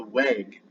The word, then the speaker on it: weg: the Saxons had the Weg. Now it's spelled uueg, but a lot of G's in Old Saxon and Old English are spelled like a Y.